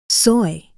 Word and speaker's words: soy: I am soy. Soy. Go on, say it like you mean it. Soy. Not your soy.